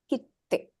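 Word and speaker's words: きって: So when the ts is in small size, you will not pronounce the kana as ts. Instead, immediately you should think to emphasize the kana that follows it, that comes after it. Okay, so ki, small ts and te is kitte.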